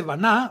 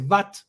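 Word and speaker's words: בת: Por ejemplo, hoy en día eh hija no se dice vaná, vaná es el verbo construir, sino que se dice bat.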